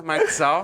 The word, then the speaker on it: Marczal: Tá certo a pronúncia? Marxal.